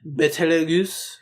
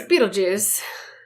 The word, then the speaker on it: Betelgeuse: It's Beetlejuice. Is it Beetlejuice? That's not how they pronounce it in Japanese, but with the spelling, like here, it would be pronounced Beetlejuice, but...